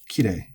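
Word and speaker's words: 綺麗: So kirei, genki, shizuka. All of these have the accent on the first mora.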